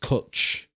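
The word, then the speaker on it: cwtch: ] vowel in it c w but it's pronounced kuch why why is it right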